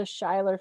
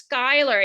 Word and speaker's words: Schuyler: a member of the scheiler family involved in this book yes actually it's skyler it's the dutch pronunciation exactly but no um